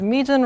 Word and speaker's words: Mejin: modules oh and the pronunciation of my name for anyone who might have been wondering is median rhymes with region so just Oh anyway